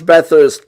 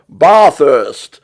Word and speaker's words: Bathurst: least they don't at least at least they pronounce bathurst properly unlike uh unlike jeremy clarkson come on bar first residence this was really exciting where did one